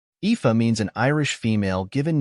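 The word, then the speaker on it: Aoife: English it is spelled as AI the correct pronunciation of this word is epha epha means an Irish female given name meaning beauty or Radiance here is how you can use it in your daily routine example epha is a common name in Ireland we are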